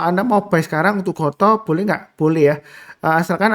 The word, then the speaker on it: GOTO: Saya mulai langsung dengan yang pertama adalah untuk saham Goto ya, Gojek Tokopedia. Jadi saya sebutnya Goto bukan Gotu ya. Mungkin orang-orang bilangnya Gotu tapi saya lebih suka sebutnya Goto. Karena memang pelafalannya ya Gojek Tokopedia.